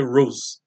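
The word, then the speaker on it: Roz: o nome de mulher se escreve RZ mas a pronúncia Rose então a Rose ela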